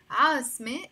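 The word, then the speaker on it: عاصمة: pronounce them okay so we know now that we have to pronounce the a sound always whenever there is the letter mean before the temmar let's see what these words mean asme is a capital the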